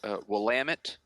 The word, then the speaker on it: Willamette: I guess being a foreign of the land, it's pronounced Willamette, not Willamette.